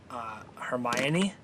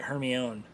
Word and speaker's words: Hermione: all-time though is uh Hermione yeah Granger yeah I was always doing her my own okay I'm reading the